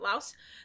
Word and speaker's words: Laos: That's how you pronounce it, Laos.